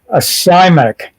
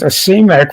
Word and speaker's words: asemic: And by the way, Wikipedia assures me the proper pronunciation in English is acymic. I know it wasn't asemic, but I thought it was asemic.